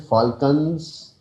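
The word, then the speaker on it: Falklands: उसके बाद एक एक जगह है, उसको कहते हैं फाल्कन्स। एल साइलेंट है।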